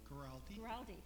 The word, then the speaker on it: Guaraldi: Guaraldi.